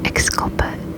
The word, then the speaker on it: exculpate: Exculpate. This one is spelled E-X-C-U-L-P-A-T-E. I think it probably sounds like it has an S, but it's an X and a C.